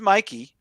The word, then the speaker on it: Mikey: have not seen it Mickey Madson for Anora it's pronounced Mikey and uh yeah no